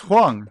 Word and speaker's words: Huang: So, Yumi, is it pronounced Huang?